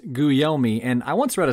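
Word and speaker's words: Guglielmi: how to pronounce it it's spelled g-u-g l-i-e-l-m-i and it's pronounced goo yell me and hey listen i'll be the first to tell you it doesn't look like it should be pronounced guyomi and i once read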